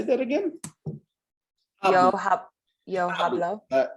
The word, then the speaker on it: hablo: Yo Hablo. hablo. The H Oh, is silent. no, yes, hablo.